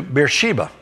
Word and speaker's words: Beersheba: and he came to Beersheba that's not really the way it's supposed to be spelled it's it's probably pronounced birth Shiva but oftentimes in English it comes out beer-sheba don't think it has